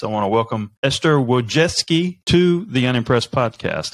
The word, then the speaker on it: Wojcicki: this teaching process I want to welcome Esther wojeski to the unimpressed podcast how you doing Esther